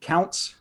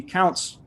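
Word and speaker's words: Kountze: court in matthews v i'm going to pronounce it counts k-o-u-n-t-z-e-i-s-d um the burden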